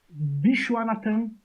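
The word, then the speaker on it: Viswanathan: Também tá Como que jogando pronuncia Vishnu, por favor, que eu nunca aprendi? Vishwanathan Anand.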